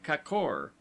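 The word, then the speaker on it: kkor: word, as kor, gorges, pronounced as though written kakor, the a having the sound of a in sofa, lions, dodon.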